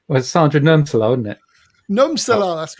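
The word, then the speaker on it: Nurmsalu: I preferred Sandra Umsala. Did I pronounce that correctly, Martin? He's on mute. Well, like I was expecting to be called upon. Sorry, just dozing off there. Well, Sandra Numsala, wasn't it? Numsala, that's right.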